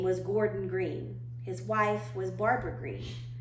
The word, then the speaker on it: Greene: Greene, that's Greene with a silent E at the end, discovered they were expecting a baby girl.